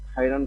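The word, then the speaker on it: خيرًا: বলা উচিত জাযাকাল্লাহু খাইরান খায়ের বলার ক্ষেত্রে সতর্কতা খায় শব্দটি বাংলা উচ্চারণে খায়রানের পরিবর্তে ব্যবহৃত হয় যা আরবি ব্যাকরণ অনুসারে সঠিক নয়। তাই সঠিক উচ্চারণ ব্যবহারের জন্য খায়রান বলা উচিত।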